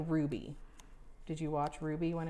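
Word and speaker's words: RWBY: it is pronounced Ruby. Rubbleby? Yeah, it's Ruby. I was always just thought it was Rubbleby. Nope, Ruby.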